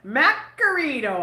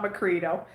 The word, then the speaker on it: Macrito: Macarito, I call her. Not Macrito. Macrito's actually how you say her name. But I say Macarito.